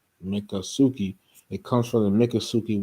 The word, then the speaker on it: Miccosukee: It's Miccosukee, but here it says Miccosukee is pronounced Miccosukee.